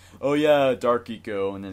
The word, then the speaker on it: Ico: I say Ico. It's pronounced eco.